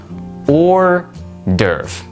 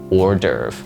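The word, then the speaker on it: hors d'oeuvre: So just think of it like this or derve and that's it. The pronunciation and the spelling are very different for this word, but sometimes English can just be like that.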